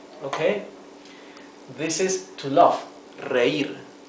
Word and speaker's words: reír: Reír. Reír has two syllables. Re-ir. You can see the difference between the pronunciation of the first R and the last one. R and R.